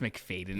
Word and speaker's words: McFadden: I don't have the confidence level of being like, yeah, I'm McFadden, and it's pronounced McFadden.